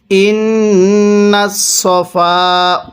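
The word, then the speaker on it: الصفا: এরপরে ইন্নাস সফা, হ্যাঁ কিভাবে পড়ব? ইন্নাস সফা ওয়াল মারওয়াতা। ইন্নাস, এখানে আমরা এই সদটাকে অনেকেই সিন উচ্চারণ করি। যদি সদকে সিন উচ্চারণ করি তাহলে পড়াটা সহি শুদ্ধ হবে না।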